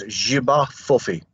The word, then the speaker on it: Jiba Fofi: Is it the Jabba for Fofi? How do you say it? The name of the giant spider in Cameroon is Jiba Fofi. Jiba means great or giant, and Fofi is their word for spider.